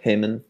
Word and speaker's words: Haemon: Is that the correct pronunciation? Yeah, Haemon.